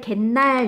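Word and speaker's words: 갠날: 아이 켄 날이 것 은 발음할 때 갠 날 이렇게 되면서 뒷말이 날 이라는 리 은으로 시작했는데 연이은 앞에 미 은 소리가 더 낫죠 요렇게 된 경우에 어떻게 사이 쇼 받쳐서 갠 날 로 발음한 거에요 제삿날 일하는거 제사라는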